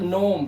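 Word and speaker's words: gnome: इसी तरह से यहां पर देखिए इसे जी से नहीं पढ़ते। इसे पढ़ते हैं सिर्फ नोम। क्या पढ़ते हैं? नोम। और जी हमारा साइलेंट हो गया।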